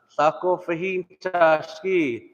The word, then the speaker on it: Sako fahin chashki: All you have to do is break it down syllable by syllable. Sa, kof, fa, hin, chash. I guess that one would be one. Then ki. Sa, kof, fa, hin, chashki.